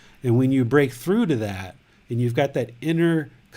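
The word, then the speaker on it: Wai: So the hands coming together in the prayer position, this is called a Y, W-A-I. That's how I spell it, Y.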